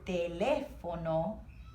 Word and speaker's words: teléfono: So this word teléfono, it's emphasizing what letter? E, teléfono, okay?